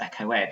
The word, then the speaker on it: echoed: which I think is supposed to be pronounced echoed so it rhymes with bed this sense that even